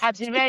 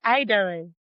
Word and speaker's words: Adire: Adire is not Idere. So it's Adire, Adire, Adire.